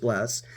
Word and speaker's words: Blxst: this time we're reviewing blast spelled blxst but pronounced blast his debut album I'll